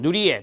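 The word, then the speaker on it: Nirje: 밑에 정상화 이론에 미켈슨, 누리에 또는 니르제라고도 발음한다 했습니다.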